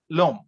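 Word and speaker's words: l'homme: french the same concept in french h is considered a verbal so we have a vowel before that we have this article l e then followed by h o m m e two over coming together so we eliminate uh delete the first bubble so becomes lom which means the man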